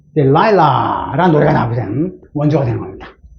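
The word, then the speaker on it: Delilah: 우리말로는 데릴라고 리를 전하는데, 그건 R 발음은 안 되고, 델릴라인데, 영어 발음은 델라일라, 유명한, I saw the light on the light that passed by your window.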